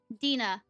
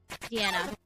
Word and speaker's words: Deanna: Dina. Okay. Deanna? Sorry about mispronouncing it. Got it. Deanna. Cool.